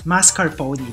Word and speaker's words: mascarpone: finger as basement so correction guys it's actually pronounced as mascarpone so yeah so we know uh